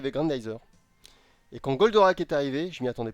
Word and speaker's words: Goldorak: C'est-à-dire que je regardais Goldorak, je ne savais même pas prononcer le nom, je disais Boldorak.